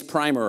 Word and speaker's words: primer: called the young lady's primer or primer depending on how you pronounce it and it's a machine